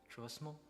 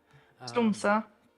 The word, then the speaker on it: Tromsø: But if finances wasn't an issue, would you be down to go to Trosmo? Is that how you say it? Where? Tromsø.